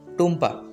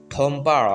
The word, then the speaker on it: টুম্পা: অন্য কেউ হলে টুম্পা রায়হান না বলে বলতো থম্পা রায়হান।